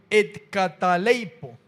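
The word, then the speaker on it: καταλείπω: las palabras son todas un poco difíciles de pronunciar. Dice et cataleipo.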